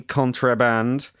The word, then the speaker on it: Contraband: A very good version, which I love, by the way, is someone called Contraband, spelt with an E, Contraband.